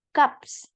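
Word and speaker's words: 값: Terus di sini ada gaps. Tapi bacanya gap aja. Gap. Tidak perlu pakai S. S-nya ini abaikan.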